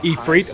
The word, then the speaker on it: Ifrit: experience which we liken to a Ifrit, I should say, considering how I've heard it pronounced.